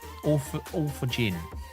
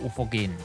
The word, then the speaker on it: Orthogin: Orthogin, not Orthogin. It's a soft G.